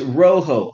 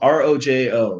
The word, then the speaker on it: rojo: Oh, it's rojo, R-O-J-O, rojo, the Spanish for red.